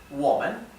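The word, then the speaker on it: 我们: para los plurales simplemente se le agrega la sílaba men sí sin tono Entonces yo es nosotros o nosotras es Woman Woman tú es ni y vosotros o vosotras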